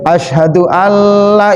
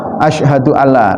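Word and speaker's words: أشهد أن لا: Nah, hadirin yang dirahmatullah, ini hati-hati sekali pengucapan asyhadu alla. La-nya harus panjang meskipun jenengan dalam salat asyhadu alla ilaha illallah. Jangan asyhadu alla ilaha illallah. Jangan, Pak. Bisa beda nanti maknanya.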